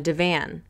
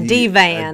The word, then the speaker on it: divan: ian was laying on a divan a d-van d-van please say it properly the detectives said they